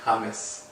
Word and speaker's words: James: know James Rodriguez um obviously they pronounce his name in Spanish it's actually hamus hamus really hamus Rodz yeah oh right